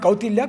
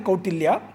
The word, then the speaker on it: Kautilya: So the Guru said, it's not Kautilya, Kautilya. And to quote what Sir